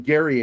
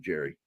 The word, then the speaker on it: Gerry: lot like the Thunderbird I called him Gary Anderson when I was a kid but then found out he pronounces it Jerry but uh him and